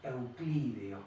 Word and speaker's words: euclídeos: las propiedades de los espacios euclídeos, con acento en la I.